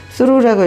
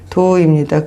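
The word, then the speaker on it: though: 잘못 읽을 수루라고 읽을 때가 많고 수루라고 봐갖고 다시 보면 말이 안 돼서 보면 도우죠. 또 도우인데 또 수루인데 도우라고 읽어서 문장이 해석 안 될 때도 있고 도우입니다.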